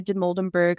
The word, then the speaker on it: Dimoldenberg: I really like her her name is Amelia dimoldenberg I believe is how you pronounce her last name she's like like she's